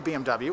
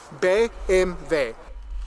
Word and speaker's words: BMW: German they don't say BMW well they do they do say BM and W but they say the letters like it is in German BV B MV yeah BMV BMV I